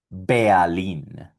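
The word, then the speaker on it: Berlin: Y aquí está la capital de Alemania, que también tiene la combinación ER, y esto suena Berlín.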